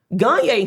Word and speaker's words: Gagne: Gagne, his name is Gagne, not Gaines.